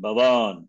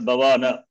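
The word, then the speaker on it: भवन्: So, Nakara, pure consonant at the end, preceded by a vowel. So, it will not have difficulty in pronunciation. Bhavan, not Bhavana. Bhavan.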